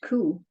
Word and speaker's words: coo: For instance, in Heather and Homicide, yes, cow is pronounced coo, but it's not spelled cu though.